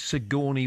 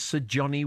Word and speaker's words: Sigourney: This was the birthday of the actress Sigourney Weaver many years ago, and for some reason, Andy pronounced her name as Sir Johnny Weaver, like she was some posh Dear bloke.